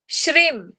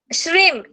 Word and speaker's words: श्रीम: 19 श्लोक का बीजाक्षर है श्रीम बीजाक्षर। श्रीम, जो हम लोग श्री लिखते हैं ना हर वक्त पहले, हाँ श्री, उसके ऊपर अनुस्वार देना है, उसके ऊपर टिम्ब देना है, ठीक है।